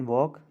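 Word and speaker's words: walk: तो जैसे वॉक, आप देखें वॉक बोलेंगे तो इसमें एल की साउंड नहीं आ रही है, so that's why इट is silent.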